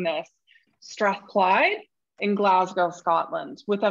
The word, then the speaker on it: Strathclyde: thank you so much kara and you did pronounce it correctly it is strathclyde um thank you so much for uh inviting